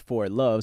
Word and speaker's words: For Love: 4K3 is pronounced For Love.